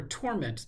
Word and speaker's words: torment: of these examples where if you put the emphasis on the second syllable torment it's the verb on the first syllable torment is the noun I think we want